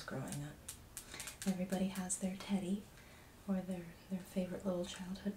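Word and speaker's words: Teddee: Everybody has their teddy or their favorite little childhood plushie, and this was my childhood teddy, and her name is in fact Teddy, but it is spelled T-E-D-D-E-E.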